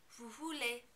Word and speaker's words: vous voulez: In the vous form, you also are not going to pronounce the S at the end of vous because it's not followed by a vowel sound.